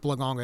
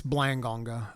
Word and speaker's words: Blangonga: It's not Blonga, it's Blangonga.